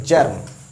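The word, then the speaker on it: germ: कभी-कभी जी का ज भी हो जाता है। जी का कभी-कभी क्या हो जाता है? ज यानी जी ई आर एम जर्म।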